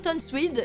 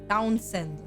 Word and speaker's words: Townsend: Donc, voilà, donc Fran Tonswede, je vais dire Tonswede, je sais pas comment le prononcer, donc je vais dire Tonswede et... Non, Townsend.